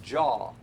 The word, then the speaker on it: Jah: north and uh so the way i remember those is jaw j-a-h would be pronounced jaw so when i think of jonah i think of jaws anyway j-a-h so if you try to use j-a-w it's not going to work that has to be